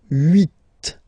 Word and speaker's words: huit: Okay, then here final T is pronounced, so huit, huit. Remember in French this H letter here, okay, doesn't exist phonetically, so we don't really pronounce it, okay? So if you listen carefully, you will only listen or hear these vowels at the beginning of the word. Huit, huit, okay?